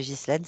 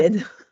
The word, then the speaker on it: Guylaine: Guylaine, je ne sais pas pourquoi je vais vous appeler Ghislaine, ça m'énerve depuis le début. En fait, ça s'écrit Ghislaine, mais ça se dit Ah, Guylaine.